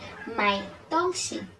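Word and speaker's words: 买: you say buy things we say my means buy my means bye don't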